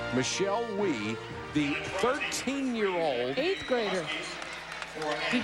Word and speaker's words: Wie: Michelle Wie, the 13-year-old 8th grader. Did who you see could the drive beat she had anybody in this building. Well, Annika Sorenstam is playing so well. And but Michelle Wie, an 8th grader, 13, and she was mad